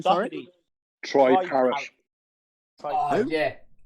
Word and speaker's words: Parrott: Troy Parrott. Yeah. Parish. Troy Parrott. Parrot. Oh, yeah. Parrot as in bird.